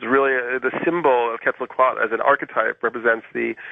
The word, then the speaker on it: Quetzalcoatl: me with the pronunciation i've been saying Quetzalcoatl because I always thought that that L was significant at the end but you're dropping it yeah Charlie the Ellis